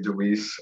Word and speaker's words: DeWeese: Americans, we always say Deweese, although I hear it's a Dutch last name, so whatever.